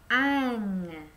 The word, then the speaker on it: un: Ini adalah U dan N. Dibacanya ang. Ang ya.